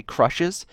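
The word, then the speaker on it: XSHZ: by once again it was sent in by crushes and that name is spelt X s H Z I did have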